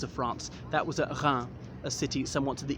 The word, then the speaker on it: Reims: That was at Reims, a city somewhat to the east of here, but Reims is spelled R-E-I-M-S, despite the pronunciation.